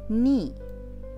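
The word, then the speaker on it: 二: Itchy উচ্চারণ হচ্ছে itchy. ঠিক আছে। ইচি একটা দাগ থাকবে। ওকে। দুই হচ্ছে নি।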